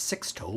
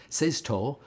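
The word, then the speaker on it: Sixto: which is spelled s-i-x-t-o a lot of people think it's six toe but it sees Sisto and it's uh he's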